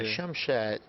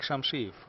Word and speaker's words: Shamshiyev: Yeah, Shamshed. Is that how I say his name? No. Azambek Shamshiyev.